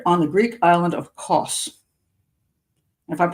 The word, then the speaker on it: Kos: So I pronounce Kos. Okay, good. Somebody said I pronounced it correctly.